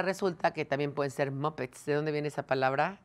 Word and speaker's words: Muppet: que también pueden ser muppets de dónde viene esa palabra ale no los va a platicar se pronuncia muppet y es un personaje